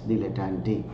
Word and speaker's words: dilettante: You have to pronounce like this, dilettante.